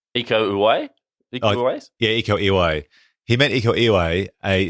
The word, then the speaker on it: Uwais: Do you pronounce it Uwais? Iko Uwais? Uwais? Yeah, Iko Uwais.